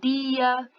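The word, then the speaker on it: día: No espanhol, eles vão falar como fala o pessoal do Nordeste, eles vão falar di, ok? Então, eles vão falar dia, diário, Diego, ok? Com esse Dzinho mais presente aí.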